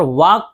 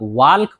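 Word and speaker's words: walk: इसलिए कि आप अगर गलत पढ़ेंगे, ऑनर को हॉनर पढ़ देंगे, हाफ को आप जो है हाल्फ पढ़ देंगे, और वाक को अगर आप वाल्क पढ़ेंगे तो कितना अजीब लगेगा और लोग कैसे आपका मजाक उड़ाएंगे आप अच्छी तरह जानते हैं।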